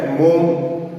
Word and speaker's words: Maugham: कुछ लोग इसको मोगम भी पढ़ते हैं, बट प्रोनाउंसिएशन के अगर हम देखें तो इसका जो है मोम सही प्रोनाउंसिएशन है।